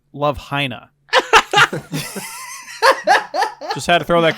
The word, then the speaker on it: Love Hina: something about that episode it's actually pronounced Love Hina just had to throw